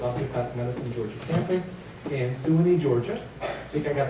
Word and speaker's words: Suwanee: Humbert graduated from the Philadelphia College of Osteopathic Medicine, Georgia campus in Suwanee, Georgia. I think I got it right this time. Swan. That can't be swine. Silent U.